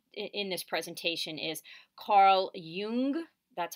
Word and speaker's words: Jung: personality theorist we in this presentation is carl jung that's how you say his name and he